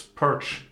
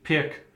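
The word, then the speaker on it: Pirc: A lot of debate how you pronounce Pirts. Pirts, Perch, Pirk. But I believe Pirts is correct.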